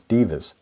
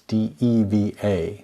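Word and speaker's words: devas: natural world known as divas or not the excuse me Davis I am mispronounced it it's de vie a not div a good afternoon loo good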